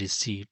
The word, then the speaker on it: receipt: Well, it is pronounced as receipt. So obviously option B P the letter P is silent in receipt.